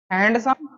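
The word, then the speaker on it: handsome: था बात की थी इसको क्या पढ़ते हैं भाई हैंडसम हैंडसम ठीक है ना डी को साइलेंट कर देना ठीक दिस मैंगो इज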